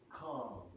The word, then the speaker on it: car: Okay, that has no R in the transcription, which means non-rhotic. Now, we'll go to the American, which you probably already know how to pronounce it, but it's car. Car. Yes, where you have the R sound, which is rhotic.